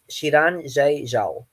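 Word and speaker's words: Xiran: gonna try this is also really difficult to pronounce it's shiran yeah chiranji ciao yeah i had to listen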